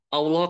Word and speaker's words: Allah: ada tulisannya Apa contohnya contohnya adalah Allah kan kita bacanya panjang ya Allah Padahal di tulisannya nggak ada yang panjang Allah nah ini berarti untuk dibaca panjang walau tetapi kita tidak menemukan Alif secara penulisan dalam kata Allah di dalam tersebut oke